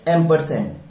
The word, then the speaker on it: ampersand: इसका जो प्रोनाउंसिएशन है वो है एम्परसेंड, AMPERSAND, और ये एक सिंबल है, दिस इज अ सिंबल।